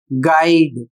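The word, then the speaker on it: guide: यू का जो काम है वह क्या करता है? वह जी को हार्ड बना देता है। कैसे उदाहरण के माध्यम से यहां पर समझिए यहां पर इस शब्द का उच्चारण होगा गाइड। तो यहां पर देख सकते हैं जी को क्या कर रहा है? तो जी को थोड़ा सा लंबा कर दे रहा है या फिर हार्ड कर दे रहा है।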